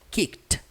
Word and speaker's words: kicked: E aí essa palavra aqui, ó, nós pronunciamos kicked. Kicked, com o somzinho do T no final.